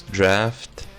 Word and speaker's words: draught: It's draft, as in laugh, but with a T in it.